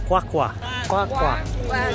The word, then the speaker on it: QwaQwa: pronounce again again it's spelled qw-a why there's a click in the quack quack are they doing it